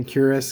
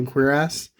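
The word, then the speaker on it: cuirass: s and um curious some people say curious because they don't want to say queer ass but uh that's how it's pronounced and that's what my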